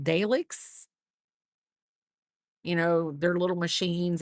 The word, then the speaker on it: Dalek: Oh, a Dalek.